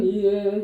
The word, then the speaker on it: 위에: 저 푸른 초원 위에 이러고. 네, 저 푸른 아니라고. 잘못하고 있는 거예요. 그리고 위에가 안 돼가지고 우에. 위에 발음이 안 돼. 그래서 우에 그러고 있다고. 초원 우에? 아니야, 이건 발음을 잘못하는 거야.